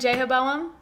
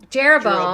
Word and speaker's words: Jeroboam: Like you're going to know last how to pronounce them. We learned Jehoboam and Rehoboam. Jeroboam.